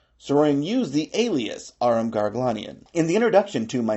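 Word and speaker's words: Garoghlanian: The way to pronounce that name is to say gar paw uglin slight pause Ian.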